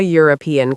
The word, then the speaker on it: European: And a European country, not an European country, because it sounds like you're.